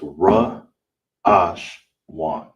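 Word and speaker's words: ראשון: How you would say it in uh all together is ra ash wan. Ra ash wan. That's how you say first in Hebrew.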